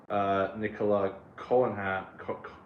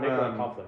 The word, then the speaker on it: Nicola Coughlan: Ruby's on the Christmas special as it's set in World War II with Nicola Collan from Bridgeton. I thought it was. I thought she was from. Nicola Coughlan, yeah.